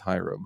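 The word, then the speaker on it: Hiram: You say Herum or whatever. I don't want to hear your pronunciations. Right. It's herum. All right. It's not. It's Hyram. It's Hyram.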